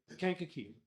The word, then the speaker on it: Kankakee: All right, Kankakee. Kankakee. Kank. K-A-N-K. Kankakee. Kankakee. But you put like the Kankakee, like the like can.